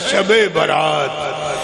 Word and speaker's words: شب برات: شب برات کہتے ہیں، صحیح تلفظ ہے شب برات، یعنی نجات کی رات۔